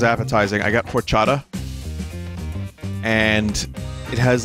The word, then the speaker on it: horchata: delicious both but different the H is silent horchata they um both are